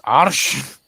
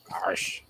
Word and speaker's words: Arsch: Yeah, in German it's Arsch. Arsh.